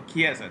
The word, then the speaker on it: Chiesa: Oh, Chiesa. That's how you pronounce it. So I have pronounced it Chiesa.